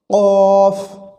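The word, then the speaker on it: ك: আরেকটি যে হরফ রয়েছে সেটি হচ্ছে কাফ এটি উচ্চারণ একেবারেই সহজ কাফের উচ্চারণে যদি মাখরাজ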